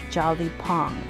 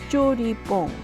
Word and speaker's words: 죠리퐁: The actual name of Jjo-Ree-Pphong is not as it is spelled in English, Jolly-Pong. It is Jjo-Ree-Pphong, Jjo-Ree-Pphong. My guess is that Jolly-Pong came about to cater to non-Korean speaking consumers. But now you know, it's Jjo-Ree-Pphong.